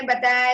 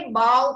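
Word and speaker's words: bow: बो मतलब जो मैंने बताया जो गले में लगाते हैं शर्ट के ऊपर एंड थर्ड बो नहीं कहेंगे बाव कहेंगे बाव डाउन बस स्पेलिंग यही है ठीक है स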